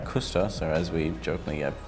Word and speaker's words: Cvstos: How do you say this? Cvstos. No, I'm kidding. It's Cvstos. Cvstos.